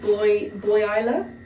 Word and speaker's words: Buhay Isla: Um, let's do a 3-day twoight boat trip from Elno to Kuran with it's pronounced boy Isa.